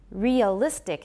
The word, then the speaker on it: realistic: Thus, many people will say that realistic has 3 syllables. How many do I have? Realistic. Realistic, realistic. Realistic. I say 4, realistic. If I'm saying it fast, it's very realistic. I believe I have 4, even if I elide it a little bit.